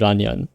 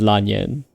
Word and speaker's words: Lan Yan: is a bit slightly different from the Japanese Ran Yan. So if I want to embrace my inner me, I'll call her Lan Yan. But technically, she is Lan Yan. If you pronounce her the Chinese way.